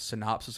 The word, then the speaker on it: synopsis: a little, I guess, synopsis of what he does real quick. Yeah. The guy. Big word. You like that? I'm an educator. Okay. It's 3 syllables, dude. Synopsis.